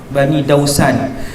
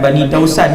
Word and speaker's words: Bani Daus: daripada Daus, Bani Daus, Bani Dausan. Bukan Bani Dausan, dia Bani Daus.